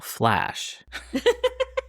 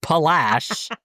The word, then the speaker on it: PHLASH: Oh, Flash. Flash. The Purple Flash tourist bus, PHLASH. I never heard of that either. Yeah, but but I'm saying it's not pronounced Palash.